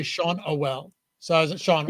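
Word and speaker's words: Schanuel: The pronunciation is Shaunwell.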